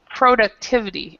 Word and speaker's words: productivity: But then when we go to this word, it completely changes how it's pronounced, and we say productivity.